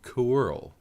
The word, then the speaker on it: Coeurl: I found out the other day that you're supposed to pronounce it Coeurl. I had no idea.